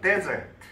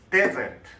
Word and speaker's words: desert: 요거는 desert. desert. 발음이 다르죠?